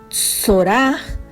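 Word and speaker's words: צרעה: ellos vivían y sora en en hebreos se pronuncia sorá y significa enfermedad avispón o tierra baja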